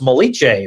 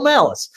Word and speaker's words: Malice: And I actually said, now let me just make sure I got this is not like an Italian last name. It's not like pronounced Molice or something, right? He said, no, it's Michael Malice.